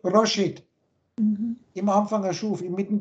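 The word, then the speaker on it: ראש: Weil dieses Zeichen, diese 200, ausgesprochen, Rosh im klassischen Ibri, man kann das auch Resh, Rash, Rish aussprechen.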